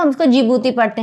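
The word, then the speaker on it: Djibouti: है एंड डी फॉर जिबूती okay D is silent तो हम इसको जिबूती पढ़ते हैं डी जिबूती नहीं पढ़ते डी इज़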